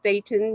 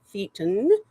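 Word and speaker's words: thetan: It is Thetton not Theon and it is Zenu not Zenu symbol but good video other than that.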